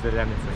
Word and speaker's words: Zeljanica: Zeljanica. I feel like I'm saying it right. It is zeljanica.